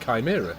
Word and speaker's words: Chimera: and all this time I've been pronouncing your name as it is spelt in front of me, but it's pronounced Chimera, isn't it?